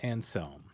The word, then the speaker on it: Anselm: I always say his name wrong. I say how do you say Anselm. it? Anselm. St. Yeah, Anselm.